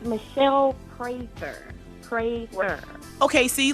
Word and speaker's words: Prather: So, it's Michelle Prather like you're praying.